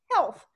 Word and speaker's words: health: to heal someone but in the word health it's also heal but it's pronounced health so you can to